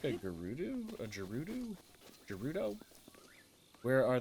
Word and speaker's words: Gerudo: Gerudo, hard G. Is it Gerudo or Gerudo? Oh, you said G. So Gerudo.